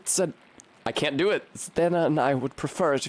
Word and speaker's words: Zdena: Oh, it's check. Fuck. Zdena. It is just Zdena. Okay, cool. Thank you. If you please, Sister Zed... I can't do it. Zdena and I would prefer